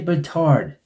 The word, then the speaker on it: Batard: Dan Batard. Sounds familiar. It rhymes with another word. Someone missing a couple chromosomes.